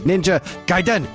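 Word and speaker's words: Ninja Gaiden: Fred Savage right outside the door he said Ninja giden ha that's how you say it I mean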